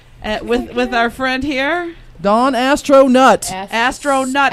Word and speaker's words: Astronutt: With our friend here, Don Astronutt. Astronutt. I keep wanting to say astronaut. I know. Like Neil Armstrong, but it's Astronutt.